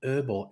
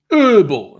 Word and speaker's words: herbal: the way Americans say herbal and it's like it's such a harsh pronunciation of the E pretending the H isn't there herbal it's just like it's